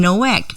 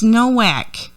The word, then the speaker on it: Nowack: We are going to leave off with some John Nowak music. You say Nowak, I say Novak. It's Nowack.